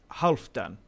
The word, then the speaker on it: Halfdan: the last episode but it's half like valhalla like hull so half done half that's how you say it but yeah my apologies